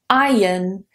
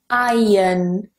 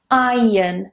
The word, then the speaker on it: iron: This one is iron. Now in British English, it is pronounced differently to an American English, so that R is not pronounced in British English. Do be aware of that. Iron. Iron.